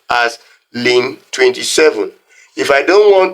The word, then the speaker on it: ln: simply write Ln y this Ln Y is pronounced as Lan y so we pronounce this as Lan y now if I